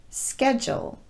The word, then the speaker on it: schedule: video but there are a number of words where the letter d will be pronounced as j and some of them